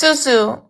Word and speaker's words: Susu: My name is Suzu. You said it right the first time.